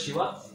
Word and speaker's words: Shiva: So Tamas is associated with Lord Shiva, Lord which is Shiv, which is pronounced as Shiva.